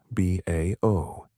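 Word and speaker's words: BAO: And the key to this measurement is something called beron acoustic oscillations often abbreviated as B AO pronounced as individual letters B AO.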